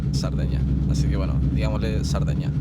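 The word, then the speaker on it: Sardegna: zona oeste de cerdeña en español se dice cerdeña con c en italiano se dice sardeña así que bueno digámosle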